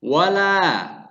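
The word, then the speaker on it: وَلَا: pertama the dalam lafadz wala yang maknanya di situ dan janganlah disitu dibacanya panjang dua harokat dan kalau dilihat dalam ilmu tajwid wala lah disitu sebagai tempat Thobi'i yang panjangnya dua harokat dan kemudian lafadz yang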